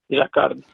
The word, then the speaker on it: Jacquard: Did I pronounce that correctly? Yes, Jacquard.